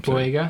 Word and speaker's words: Boyega: Sorry, John Boyega. I don't mind your acting in other movies. Sorry, I butchered your name. Boyega.